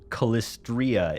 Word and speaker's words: Calistria: Calistria is the correct pronunciation. There's an I in there.